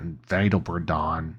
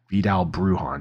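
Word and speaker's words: Vidal Bruján: guy to look at vdal bdon or sorry Vidal bruhan Jesus that was a mispronounced if I've ever heard one um he would be a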